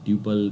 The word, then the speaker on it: tuple: said to be a tuple tuple couple you can just pronounce it like that so tuple is row